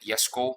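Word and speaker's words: Jesko: Not even the upcoming Yesco event, which is weird. Just to throw people off, yes, I deliberately call it hit Yesco because that's the correct way to pronounce it according to Sweden.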